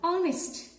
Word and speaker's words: honest: Because the letter H is silent in this word. The opening sound of this word is a vowel sound, honest.